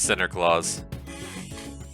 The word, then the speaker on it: Sinterklaas: It's not Santa, it's Sinter. God, you gotta pronounce it right. My bad. Yeah. Yeah. You know what? I shouldn't dead name him. I gotta respect that it is Sinterklaas.